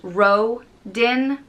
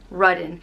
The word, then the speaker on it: Rodan: It's pronounced Rodin, or Rudin. Again, depending on where in Ireland you are.